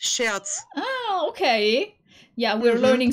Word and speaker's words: Scherz: yeah but it's spoke it's pronounced shirts oh okay yeah we're